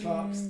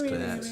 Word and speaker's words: Clerks: But it would be Clark's. Like the word is Clark's. But It's Clerks.